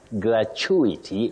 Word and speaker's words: gratuity: t UI t y how do we pronounce that word oh bet you say gratuity uhuh gratuity but remember you can also say gratuity or so there are two ways to say that word we talk of alternative pronunciations for certain words in the English language I love it Willis